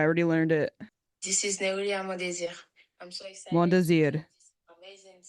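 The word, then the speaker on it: Nérilia Mondésir: This is Neulia Mondesir.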